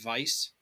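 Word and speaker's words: Weisz: of order point of order uh it is pronounced vice vice vice vice German so the word [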